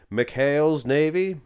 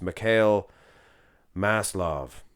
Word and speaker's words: Mikhail Maslov: This is Mikhail's Navy. No. That's just terrible. It's Mikhail Maslov.